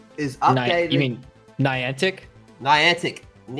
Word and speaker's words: Niantic: company I always butchered their pronunciation of this neon adct is up mean Niantic Niantic it up is updated